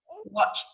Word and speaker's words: watched: Now the pronunciation is t, washed, watched. T, t. In both sounds, the pronunciation at the end is t, t, t, t.